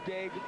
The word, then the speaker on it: Daigle: Her name is spelled that way. And of course, most of the folks we deal with who are from Louisiana or the Cajun area would pronounce it Daigle, but not so up in French. Canada. Fighting out of the back. Hence we call her Daigle.